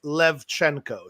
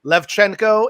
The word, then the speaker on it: Lewczenko: It's actually pronounced Lewczenko. So the W is like a V sound and the CZ is like a CH, like Czechoslovakia. So Lewczenko, and now the interwebs should know.